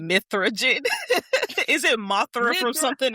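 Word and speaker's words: Mithra Jin: need to go see Mothragen in person. Mithragen. And I was like, don't call that man Mothra. I said it wrong. Mithragen.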